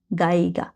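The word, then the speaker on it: Geiger: পরে যে দুজন আছে, লাস উন বেন গাইগা, ই আর আই এর উচ্চারণ আই হয়, গাইগা।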